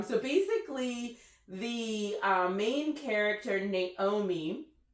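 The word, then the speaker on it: Noemí: So basically, the main character, Naomi, or Nomi, I think it's pronounced, Noemi, with an accent over the I.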